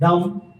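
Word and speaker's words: dumb: डम, B silent है इसमें और ये second position with light dash के साथ।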